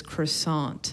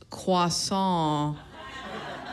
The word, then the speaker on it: croissant: like I'll have this croissant and the lady was like it's croissant the tea is silent so I was like